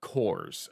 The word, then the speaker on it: Korps: I feel like that's intentional because Death Korps makes sense, but I'm fairly certain it should be pronounced Korps of Krieg, because there is no E at the end.